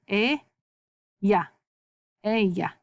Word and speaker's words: ella: Double L's, always in Spanish, say ya.